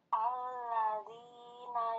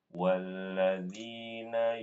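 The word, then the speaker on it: والذين: Alladzina yu'minuna Ibu bacanya bukan alladzi karena ada wawu di situ. Walladzina yu'minuna.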